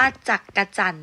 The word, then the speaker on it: จักจั่น: ๆ ต่อ ไป ค่ะ คำ นี้ นะ คะ ออก เสียง ว่า จักจั่น นะ คะ ไม่ ออก